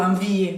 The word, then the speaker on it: envie: Envie, avoir envie, tener ganas, avoir envie, se termina con una E, pero no digo envie, porque las E finales no las pronunciamos.